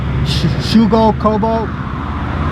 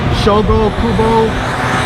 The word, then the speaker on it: Shogo Kubo: passed away in august of a heart attack shugo kobo i'm sorry if i misspelled uh mispronounced his name shogo kubo bob biniak chris cahill and paul cullen but